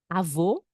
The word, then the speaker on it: avô: Avô, avó, avô, avó, avô, avó. Então, repita para que você memorize, para que você pratique. Avô é um sonido mais cerrado, avô.